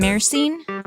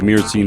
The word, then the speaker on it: myrcene: I like to add the Y in there, though, because it's M-Y. So some people who spell it M-U-R, like if we're spelling it phonetically, like myrcene. I always like to add the little Y in there, myrcene, but it's probably wrong.